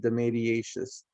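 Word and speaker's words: dematiaceous: the media and the mediatious fungi okay that's pronounced the mediatious it's a specific type of fungus and i'm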